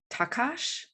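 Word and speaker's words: Takács: me your pronunciation because i don't think that s's are pronounced like s's and i i think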